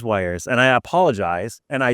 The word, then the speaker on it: Weiers: then I felt terrible so it's wires yeah it is wires and I apologize and